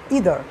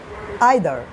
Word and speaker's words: either: হ্যাঁ, যেমন আমরা যদি একটি বলি EITHER, হ্যাঁ, এটি যখন ব্রিটিশরা উচ্চারণ করে তখন বলে তারা ইদার, বা যখন আমেরিকানরা উচ্চারণ করে তখন হবে আইদার।